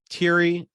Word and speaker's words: Thierry: All right, it's spelled Thierry. I think. It might be Terry with an accent. I don't know. It is. It's fucking Terry with an accent. It's fucking French. They don't pronounce half of the letters in their words.